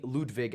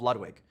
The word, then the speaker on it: Ludwig: his music enough that they called me Ludwig at birth. And then I bastardized it when I was a small American child and called myself Ludwig, which is not technically how you pronounce it.